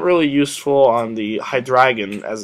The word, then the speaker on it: Hydreigon: Not really useful on the Hydreigon, as it's actually pronounced.